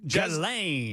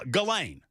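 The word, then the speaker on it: Ghislaine: But I know that the H is silent. H is silent where he's from, boys. That's That's the way they roll. Uh Galain. Yeah, Galain.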